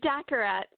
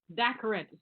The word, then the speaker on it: Daccarett: Daccarett. Daccarett. Yeah, I didn't do that right. All right. So Daccarett.